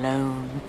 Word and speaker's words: Lone: such a good name tom lone rhymes with cone phone bone she's the most annoying